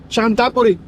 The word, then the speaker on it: Chanthaburi: guess you pronounce it why is it so good there you pronounce it chantaburi chantaburi chab yeah I